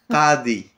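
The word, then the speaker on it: قاضي: Le ka, comme la poule. Qadi. Qadi. Kadi. C'est pas le Qadi de Bim ou de Marjane, c'est Qadi.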